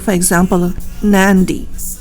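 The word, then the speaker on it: Nadi: like for example of Nandi the spelling is nad I but when he we say it we say Nandi with n sound added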